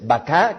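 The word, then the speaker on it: בכה: hebreo es la palabra baká, así como si ustedes estuvieran refiriéndose al animal, sin embargo es baká, que significa llorar. Bet, kauf y hei, que es la que da origen precisamente a baká, llorar, cuya frase en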